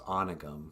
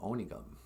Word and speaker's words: Onigum: the ojibwe words correctly there's a town near my hometown called uh whatever one calls onygum but it's spelled with an o and my grandpa was called onigum and when i was